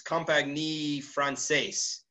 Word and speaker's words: Compagnie Française: And one of the leading cases on this front is a case, I'm probably going to pronounce it wrong, Sandy and Grant can correct me, but it's Compagnie Française. Yes, that's right.